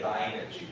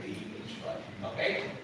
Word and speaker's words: lineage: 佛法，OK，好，佛法，哎，那个谁最爱听佛法？哪一种人最爱听佛法？就是大妈最爱，对不对？大妈这样听起来，OK。然后呢，法脉是一条直线，所以你看它前面的字根是 line，对不对？line。然后呢，加上 age 这个字就变成名词型的，但是发音要改，它叫做 lineage，它不念 lineage，它念 lineage，OK？